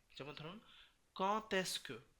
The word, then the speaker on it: quand est: après quand et comment, যখন ক এবং কম থাকবে তখন আমরা লিয়েজন করব, যেমন ধরুন, এবং এই ডিটাকে ত উচ্চারিত হবে, যেমন ধরুন quand est-ce que, কি হবে এটা